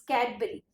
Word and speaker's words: Cadbury: Okay, it's Cadbury. You had made the wrong pronunciation of this.